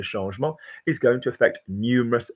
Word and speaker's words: changement: So the 1st of January 2023, a new change, notice for change we don't say change, we say changement, is going to affect numerous French people.